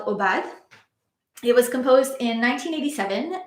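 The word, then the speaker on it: Aubade: It's called Obad. I don't know if it's supposed to be pronounced in French, but I'm going to pronounce it that way. Obad, for solo flute.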